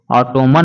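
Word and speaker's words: autumn: जैसे ऑटोमन लिखा गया है लेकिन हम लोग ऑटम पढ़ेंगे।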